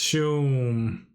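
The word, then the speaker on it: João: I know it's pronounced, is it pronounced Joao or How? Oh wow. I actually never knew because I never heard it spoken, just said, damn, this deck looks kinda not very great. I wouldn't play it. Joam? So I don't know if it's how to pronounce the J. Joam. Okay. It's pronounced Shum.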